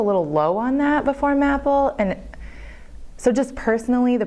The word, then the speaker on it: MAPL: MAPL, as we pronounce it, is a program designed to help